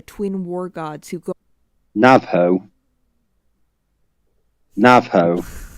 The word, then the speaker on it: Navajo: Navajo. That's how you pronounce it. Navajo. You Navajo.